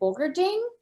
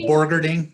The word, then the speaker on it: Borgerding: Is it Bogerding? I'm saying his name incorrectly. What's the correct pronunciation? I think just Borgerding. Yeah. Borgerding with the R.